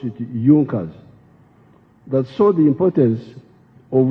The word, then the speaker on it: Junkers: It is written Junkers, but they pronounced pronounce it Junkers.